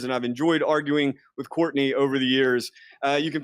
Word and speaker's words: Courtenay: I spell my name a little bit differently. It is pronounced Courtenay, but it's spelled like Courtenay.